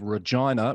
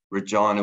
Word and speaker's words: Regina: In this case, councillors in the city of Regina, what this has done, Tony, has confirmed for me the correct way to say the name of that city.